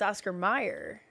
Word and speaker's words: Mayer: yeah it's weird so but it's not it's Oscar Meyer is how you pronounce it but I was thinking it was